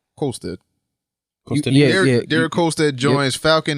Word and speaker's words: Kolstad: I'm not pronouncing that. What? Kolstad. Colstead? Kolstad.